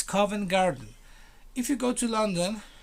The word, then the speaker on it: Covent Garden: i some people said comment garden i don't know they miss stress the celeb where it should be so it's covent garden if you go to